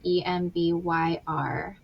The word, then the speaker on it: Embyr: And it's spelled EMBYR.